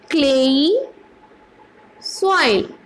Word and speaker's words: clayey: Now, the second soil today we are going to discuss with is clayey soil. C-L-A-Y, clay, E-Y-E, clayey soil, right? How do we pronounce it?